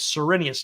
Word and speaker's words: Cyrenius: them is this guy named cyrenius now i'm pronouncing his name that way deliberately because of how we read it in the oh in the king james now what the